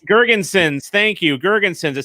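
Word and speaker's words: Girgensons: eakin zemgus i can't even say his name jerkinson gergenson's thank you gerginson's it sounds like something you do when you're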